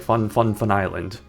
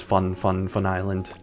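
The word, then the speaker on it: Fun Fun Fun Island: they pronounced it, because they pronounce it like Fun, Fun, Fun Island. Unfortunately, they don't keep that pronunciation in the second game, but I'll still pronounce it as Fun, Fun, Fun Island. Big emphasis on the first two.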